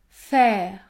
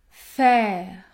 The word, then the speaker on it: faire: AI peut se prononcer lorsque les lettres se situent devant une consonne prononcée en fin de syllabe, comme dans les mots faire, faire, parfaitement, parfaitement.